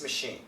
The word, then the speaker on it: machine: Now here we have the CH, but it is an SH sound.